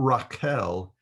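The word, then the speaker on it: רחל: I don't know if she's alive or not, but but Raquel is the Hebrew pronunciation of Rachel.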